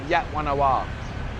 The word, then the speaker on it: Wat Yan Nawa: Even though it's got a V at the end, they actually pronounce it War Wing. So Wat Yan Nawa.